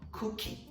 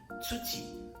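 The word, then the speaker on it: cuti: Alright, so remember, consonant C, you should pronounce it as T sound. It's not K sound. It's not cookie. It should be tuti.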